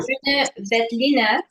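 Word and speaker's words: Grüner Veltliner: I just want to say that I'm going to correct your pronunciation because I actually speak German. It's Please do. Grüner, Vetliner, Loimer, Lois.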